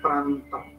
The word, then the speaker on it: Prandtl: Ada yang baca Pran loh, emang Pran gitu, bacanya Prandtl number.